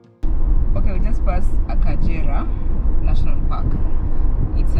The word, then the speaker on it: Akagera: it's written like Agera but in kinyawanda it's pronounced as akajira so you can check online they have different